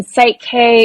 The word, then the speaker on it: PSYCH-K: So for anyone who's listening, Psyche is spelled PSYCH-K. So like kind of based on psychology, or your psyche is really where it comes from.